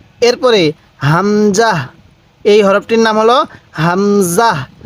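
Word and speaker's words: همزة: বলুন ওয়াও এরপরে হা দেখুন এই হা টা উচ্চারণের সময় মুখ দিয়ে হালকা আওয়াজ করবেন তাহলে হা এরপরে হামজাহ এই হরফটির নাম হলো হামজাহ অনেকেই আমরা এই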